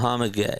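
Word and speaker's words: Mohamed Gueye: Hawk's pronunciation guide. Should have looked at this before. Mohamd. Muhammad Gay.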